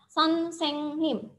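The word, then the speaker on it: 선생님: Jadi bacanya adalah son, seng, nim.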